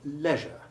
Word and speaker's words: leisure: The word leisure is an oddity in pronunciation, the EI combination having the short E1 sound and rhyming with measure, pleasure and treasure. Be sure to avoid the American pronunciation which rhymes it with seizure.